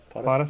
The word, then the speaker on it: POTFF: How are we pronouncing that acronym? What if? POTF. Pot if? POTF, yeah. Potif, As well as Potif, that, I Potif.